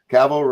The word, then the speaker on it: Cavill: Cavill rhymes with travel.